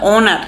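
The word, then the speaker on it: honour: তাহলে ওনার তার মানে কি ও অথচ সামনে এইচ আছে কিন্তু উচ্চারণ হচ্ছে অনার তার মানে এইচ এখানে সাইলেন্ট সো এই যেহেতু সাইলেন্ট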